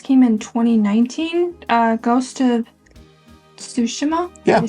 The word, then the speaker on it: Tsushima: I got into, I believe this came in 2019, Ghost of Tsushima?